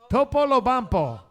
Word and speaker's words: Topolobampo: When you don't know how to pronounce these 5-syllable words, always start with the last 2 syllables. So repeat after me. Bampo. Lobampo. Polobampo. Topolobampo.